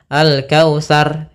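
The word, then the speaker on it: الكوثر: di sini R tafhim usahakan Jangan tipis jangan alkautsar alkautsar kalau Sar nanti rnya tipis Tapi diangkat lagi ujung lidah kepada makhrajnya di langit-langit atas dia agar lebih tebal alkautsar kita coba ulang Inna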